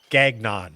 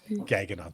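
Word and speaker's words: Gagnon: g n o n gagnan I know that's not how you pronounce it but it's probably Gan gagon g a gag n gaging on thank you that's that's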